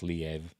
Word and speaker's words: Liev: doesn't like squid but I've been told it's pronounced Liev and Peter Coyote uh when Tinseltown Came Calling